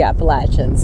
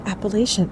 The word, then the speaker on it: Appalachian: But if you ask the northeastern section people or those GSA members that are from the northeastern section or within the northeastern section, they say Appalachian.